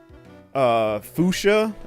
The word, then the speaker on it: Fuchsia: Fuchsia?